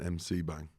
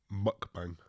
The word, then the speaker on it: mukbang: saying mukbang as an mc bang me tom how is it pronounced mukbang oh muk like the pokemon oh i thought it